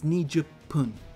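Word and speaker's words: 二十分: front of it so some numbers have a different pronunciation in this way it's nija pun so it's the p pun with 20 minutes 20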